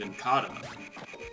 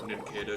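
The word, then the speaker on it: Nincada: it um i mean i used to pronounce it in kata and so did a lot of my friends as kids for a long time but part of its name comes from uh cicada nobody calls them cicada so ninketa should be pronounced name you know get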